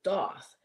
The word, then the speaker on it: Thoth: Found out a creator on Make Playing Cards did a color inverted Thoth deck or Toth deck, but Amy pronounced it Doth.